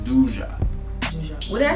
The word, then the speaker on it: Duqa: It's not even duka. It's duja.